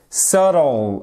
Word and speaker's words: subtle: Subtle, exactement. Non seulement vous avez l'accentuation sur la première syllabe, mais surtout, ne me prononcez pas, s'il vous plaît.